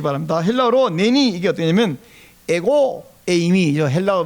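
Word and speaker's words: ἐγώ εἰμι: 헬라어로 내니 이게 어떠냐면 에고 에이미, 헬라어 못 알아보는 것이지만 제가 발음 알려드릴게요. 따라하세요. 에고 에이미.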